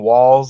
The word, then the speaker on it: Walz: Again, walls like wall, like Trump wall, law backwards. They might pronounce it waltz or something.